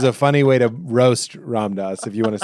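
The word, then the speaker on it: Ram Dass: Ramdas. Ramdas. Yeah. You got both wrong. You said it like rammed ass, which is a funny way to roast Ramdas.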